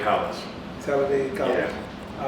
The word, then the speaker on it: Talladega: and head coach of how you pronounce it again? Talladega College. Talladega College.